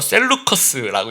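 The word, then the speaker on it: 셀레우코스: 나머지 두 국가가 여러분 셀러우코스 이거는 이제 뭐이 발음하게 좀 따라서 다른데요. 셀루커스라고 얘기하는 시리아를 담당하는 이제 성경에는 북방왕이라고 어 이야기를 하고 있고요.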